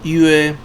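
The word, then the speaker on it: 月: Entonces esto en chino mandarín se pronuncia yue que significa luna.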